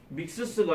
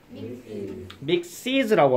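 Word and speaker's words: mixes: 붙이면 됩니다 5번은요 6번은요 이거 발음 어떻게 합니까 믹스스가 아니고 따라합니다 믹스 믹시즈라고 합니다 믹시드라고 자 그 다음에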